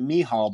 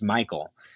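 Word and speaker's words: Mícheál: find it so yeah he pronounces it mehal but it's it's titled uh i mean it's michael but he's uh he's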